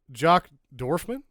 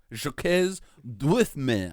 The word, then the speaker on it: Jacques Dorfman: Jock Dorfman? Jacques Dorfman, I believe is how it's pronounced.